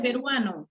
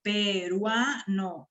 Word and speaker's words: peruano: Y también esta sílaba, en peruano, peruano, esa también es la sílaba que suena más.